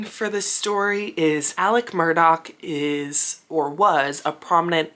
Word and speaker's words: Murdaugh: importance of the name Murdoch Alec Murdoch is pronounced Alec Murdock but if you were pronounce it phonetically it